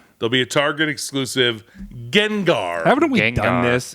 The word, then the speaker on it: Gengar: There'll be a Target exclusive Gengar. Haven't we Gengar. done this? Did I pronounce it right? Gengar. I was going to say Gengar? Genjar.